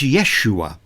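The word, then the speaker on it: ישוע: shall name him Jesus our English pronunciation of the name Jesus comes to us through the Greek the language of the New Testament the name in Greek is yeus the name in Hebrew is Yeshua it was a common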